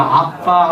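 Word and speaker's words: Abba: 양자의 영을 받았으므로 우리가 아빠 아버지라고 부르짖느니라 아멘 여기 아빠라고 하는 말이 아라모 있데요 아라모 아고 우리 말하고 발음이 아주 똑같습니다 전에는 아바 아버지라 그랬는데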